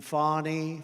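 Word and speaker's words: Fani: including local Das and local attorney generals and fonnie fonnie you know fonnie spelled f a n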